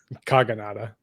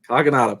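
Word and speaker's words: Kogonada: already forgotten oh yeah what is it Todd kagada kagada Perfect all right so let's just hop right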